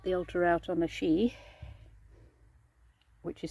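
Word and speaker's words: sidh: And as we have set the altar out on a she, which is spelt S-I-D-H, or a fairy mound, with elemental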